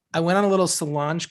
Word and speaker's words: Solange: went on a little solange kick the other day mm-hmm did i say her name right yes okay i don't want